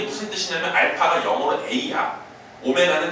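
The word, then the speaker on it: ω: 허그는 뭐라고 쓰자 메 오메가라고 쓰자 W고 쓰지만 읽을 때 뭐라고 읽어야 돼 오메가 마치 이거 보고 a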